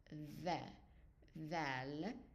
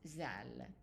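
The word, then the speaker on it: ذال: Again, in modern standard Arabic, it's pronounced the val, not zal.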